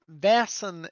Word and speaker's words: Vaesen: it doesn't so like vassen is its own word so okay got it the spelling they've done is a way to sort of pronounce the word as it is in swedish in swedish is vessel